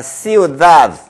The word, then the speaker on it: ciudad: C는 이와 같이 아이와 어울릴 때는 C 다 ciudad 이와 어울릴 때는 senar, ciudad 이렇게 발음이 된다는 것을 유념해 주세요.